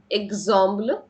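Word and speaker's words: exemple: الاكس هنا ز ديز ويت ويت ويت امتى بيتنطق ز زي كده اززامبل اززما امتحان ازرسيس تدريب اززامبل مثال اززام امتحان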